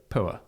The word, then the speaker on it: Poer: It has created a pickup that is, the name of it is spelled POER. Obviously, with our accents, we would go poor. Yeah, it's poor. But some people might go, oh, it sounds like power, but it doesn't. No, it doesn't.